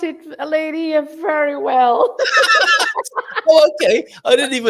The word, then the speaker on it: Leiria: Finally, you pronounce it, Leiria, very well.